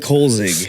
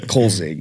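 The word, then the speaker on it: Kölzig: as a Coach Co who is it oie kig oie the goalie I not know who is he doesn't know I thought he said Kar I was like K it's not Andre Kopitar bro it's oie kig just think of only the goalie the goalie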